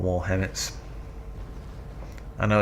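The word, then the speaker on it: HEMTT: Calling in 4 more Hemmets. I know it's pronounced Hemt, but I prefer Hemmet.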